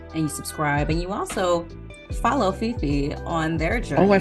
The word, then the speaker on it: Fefe: All one word, but Fifi is spelled F-E-F-E, not F-I-F-I.